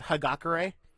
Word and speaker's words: Hagakure: Honaker even though apparently his pro name is pronounced hagakure apparently we actually pronounce it like her Gaga